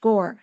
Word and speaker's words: Gaur: And by the way, his last name, Gaur, is more like Om, right? OM. So it's actually in Indian pronounced Gaur. Just thought I'd add that.